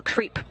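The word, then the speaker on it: KREEP: a weird component that we call creep and it's spelled k r e e p and Central potassium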